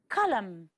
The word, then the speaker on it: column: the L is silent column the final n is silent to this time the